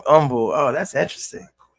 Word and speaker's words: Humble: There was a city called humble. Um umble spelled the same way. Just say umble.